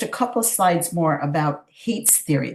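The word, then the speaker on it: Haidt: couple slides more about Hate's Theory this is ha AI DT pronounced hate and his theory was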